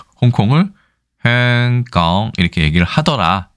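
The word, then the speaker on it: 香港: 어디선가 분명히 어떤 중국 그 현지인의 말을 듣고 저 홍콩이라고 했을 텐데 이것은 이 홍콩에 대한 광동어를 들어보면 알 수 있습니다. 저도 뭐 광동어를 잘 모르지만 네. 행강 이렇게 행강이라고 발음을 하더라고요.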